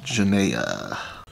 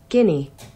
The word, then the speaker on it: Guinea: so let's learn a little bit about equatorial Janae all right let's see how to say this guinea guinea oh man I must be confusing I